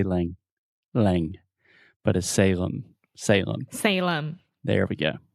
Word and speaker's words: Salem: you with the pronunciation so this is Salem s-a-l-e-m and remember whenever you have a word that ends with the letter M in English we're going to close our mouth completely because your natural tendency